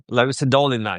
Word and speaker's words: Larissa Dolina: Dolina, Larissa Dolina, yeah, Larissa Larissa Dolina.